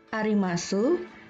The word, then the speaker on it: arimasu: Untuk kata desu, arimasu, gozaimasu, huruf U tidak diucapkan. Jadi, desu berbunyi des, arimasu berbunyi arimas, gozaimasu berbunyi gozaimasu.